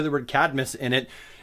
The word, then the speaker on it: Cadmus: one of those things the same thing happened with Cadmus I know it's CID I'm us Cadmus there's no extra I vowel there but for some